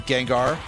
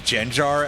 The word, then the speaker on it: Gengar: And I'm going to pronounce it that way for some reason. and just go for a psychic on on Gengar on Jengar as you might say if you're a very strange person.